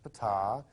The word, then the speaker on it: Ptah: While he was there, he got to meet Ptah. That's pronounced Ptah.